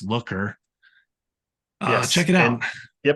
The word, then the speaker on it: Looker: In case you have trouble uh with my pronunciation, it's Looker.